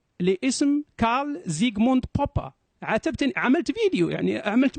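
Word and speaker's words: Popper: الإنجليزية أوتوماتيكيا تقول لك بوبر هو اسمه ألماني. أنا أنطق الاسم بالألماني، هو اسمه كارل زيغموند بوبا مثل هتلر.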